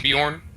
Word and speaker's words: Bjorn: from a nightingale leaving Bjorn the Jay is pronounced like a wide so it's Bjorn Bjorn okay okay some reason